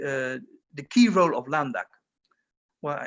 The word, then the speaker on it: LANDac: the key role of landac well i prefer much more dutch pronunciation london it was created as